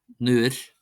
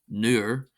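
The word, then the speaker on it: nuair: Then we have newish newish not newer. This is a slender R. It's not a broad R. It's not a R.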